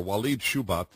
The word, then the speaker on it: Walid Shoebat: never had the privilege of speaking to before wed shubat have I pronounced your name correctly sir right Dennis is